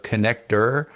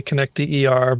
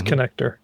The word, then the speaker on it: ConnectDER: Yeah, it's a play on the word, right? A lot of people say connecter, but yeah, company's connector.